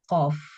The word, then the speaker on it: qaf: Nah, kesalahan yang terjadi saat pengucapan huruf qaf ini yang pertama diucapkannya sering mendekati huruf kaf. Misalnya kalu di huruf kaf, kalu gitu. Atau yang kedua bisa diubah menjadi huruf G, golilun.